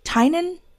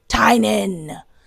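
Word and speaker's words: Tynan: Trinan, I don't know how to pronounce his name. Tinen. Tinen.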